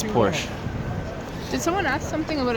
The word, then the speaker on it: Porsche: Ferrari or Porsche oh Porsche I always thought it was just Porsche I've been pronouncing it wrong the whole time yeah me too I